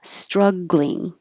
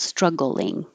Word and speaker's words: struggling: This one is usually two syllables, struggling, but you do hear people with three syllables struggling. So they're both okay.